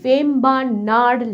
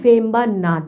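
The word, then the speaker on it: Vembanad: কিন্তু আর হিসেবে উচ্চারিত হবে, এই জন্য এর উচ্চারণটা কিন্তু হবে ভেম্বানাড় লেক, নট ভেম্বানাদ লেক।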